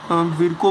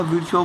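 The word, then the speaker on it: Virchow: Rudolph विर्को बोलो या विर्चो बोलो, जो बोल सकते हो आप लोग, प्रोनाउंसिएशन आपके ऊपर डिपेंड करता है।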